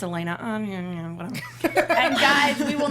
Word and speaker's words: Alana: It's ALANAJORDAN spelled like Alana. It's Elena.